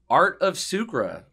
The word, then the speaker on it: Art of Sucre: Tell me about Art of Sucre, if I'm pronouncing that right.